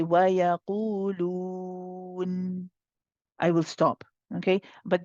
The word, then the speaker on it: وَيَقُولُونَ: Now, when we say وَيَقُولُونَ, the qaf is heavy. Okay, make sure that you circle the lips for the dhamma, and then the lips stay circled while we pronounce قُولُوا. Qulu. If your lips start to change, it's going to change the oo sound and it's not going to sound right. Okay, so you must keep